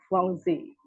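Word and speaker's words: Givenchy: itu if song lorang kemudian gensi juga kita di sini dalam bahasa Prancisnya itu dibaca zongzi ya seperti itu bapak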